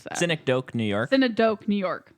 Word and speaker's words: Synecdoche: How do you pronounce that? Synecdoche, New York.